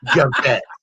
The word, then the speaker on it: Yvette: And my friends were like, "Oh no, honey, she's not Mexican. She's French. Pronounce it Javette."